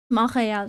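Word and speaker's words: Montréal: Montreal, sorry. You don't pronounce the T.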